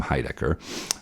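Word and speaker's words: Heidecker: One of Greg's favorites comedians is a guy named Tim Hidecker. Um, how do you pronounce it? Usually pronounce it with an emphasis on the highdecker. Yeah. Hi Decker.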